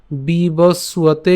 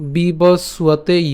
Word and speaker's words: বিবস্বতে: ইতিমধ্যে আমরা জেনে গেছি যে এখানে নিচে যে ব আছে, এ ব হচ্ছে আমাদের অন্তস্থ ব, আর অন্তস্থ বয়ের উচ্চারণটা কার মতো হয়? উয়োর মতো হয়।